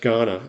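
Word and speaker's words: Kaurna: Um the the Ghana people pronounced K a u r n a is pronounced Ghana and Ghana is obviously refers to Ghana this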